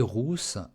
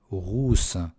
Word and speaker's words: rousse: Не путайте слова rousse et russe. Russe, une jolie russe. Une jolie rousse. Une jolie rousse. Russe. Здесь это U.